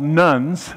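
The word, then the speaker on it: nones: stepping away from religion they're called nuns not spelled like nuns Catholic nuns but none like I ain't got none and then they won't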